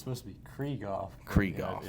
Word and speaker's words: Krieghoff: yeah, it's supposed to be Krieghoff.